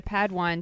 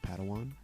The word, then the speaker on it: padawan: reunion master yoda assigned a pad one to this bold jedi it's pronounced padawan oh padawan excuse me